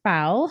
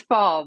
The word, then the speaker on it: Faul: I have a guest calling foul hopefully I pronounced that all correctly I should have asked you ahead of time it's fall but that's okay fall that's I should have L Hall fall you know I could have been a little more phonetic there but I grew up